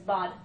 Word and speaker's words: Bod: Nobody Owens, and they call him Bod for short. And she's like, it's Bud. You don't say nobody, you say nobody. I'm like, yeah, but it's spelled B-O-D. His name is Bod.